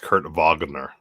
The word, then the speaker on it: Kurt Wagner: that they go by another one's added it's pronounced kurt wagner is it really i mean that's how he